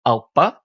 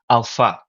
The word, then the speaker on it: alpha: So the alp becomes the alpa in early Greek pronunciation, alpha in modern Greek pronunciation, which is, of course,